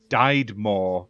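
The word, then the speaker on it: Diedemor: uh it's developed by i believe it's pronounced died more but it's d-i-e-d-e-m-o-r studio and it's published by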